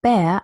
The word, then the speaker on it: Bär: second syllable, and then I don't have a postvocalic R anymore, but an initial R, and then I hear it.